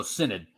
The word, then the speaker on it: Synod: for example uh the speaking of the Amazonian Cyanide and I noticed you pronounced it Synod am I pronouncing it wrong it's uh how